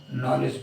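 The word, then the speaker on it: knowledge: ल ए दी जी यहां पर आप देखेंगे की जी से पहले दी आया और दी जो है वो साइलेंट हो गया इसको हम नॉलेज पढ़ने हैं आगे देखते हैं ए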